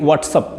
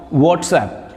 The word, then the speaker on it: WhatsApp: You say it WhatsApp. No, WhatsApp, right? I use WhatsApp I use WhatsApp throughout the day. I send and receive messages with the help of WhatsApp.